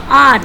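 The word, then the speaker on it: hour: तो इसमें आप इसको हावर नहीं पढ़ते, इसको क्या पढ़ते हैं, एन आर। एच जो है आपका वो साइलेंट है, तो जब एच साइलेंट है तो एच को पढ़ा नहीं जाता, बोला नहीं जाता, तो आप इसको ओ पढ़ते हैं।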